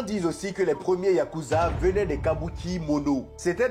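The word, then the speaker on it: ヤクザ: C'est de là que vient le mot yakuza. Dans un jeu de cartes japonais appelé Oo Shabu, la pire M possible est un 8, un 9 et un 3. Et ce 8 9 3 se prononce Yakuza.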